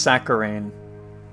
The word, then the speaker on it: saccharine: Oh, it's pronounced it's pronounced saccharine.